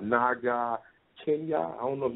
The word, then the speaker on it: Naga: It's Naga. It's N-A-G-A. Hold on. Just spell it for us, because we have some other callers, okay?